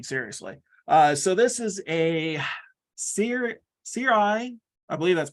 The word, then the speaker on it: Sirui: So this is a Sirui. I believe that's pronounced right.